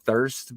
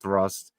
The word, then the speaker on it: Thrust: People were calling it Thirst, but it's spelled Thrust.